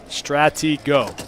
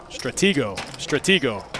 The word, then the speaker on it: Stratego: Stratigo. Got it. Stratego. Right? Okay, there we go. Yeah, I do remember that game, actually. Now that I'm saying it correctly, I remember it.